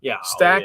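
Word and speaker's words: Staack: Ken Stack with 2 A's. I would imagine, is that still pronounced Stack?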